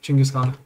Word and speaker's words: Chinggis Khan: I should start to actually say it like it's pronounced Chinggis Khan.